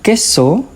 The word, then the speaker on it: queso: When there is the Q U E combination as in queso. Queso. The U doesn't sound.